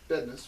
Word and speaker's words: Bednarz: My man, Double Down, Kevin Bednarz. Yep. Bednarz.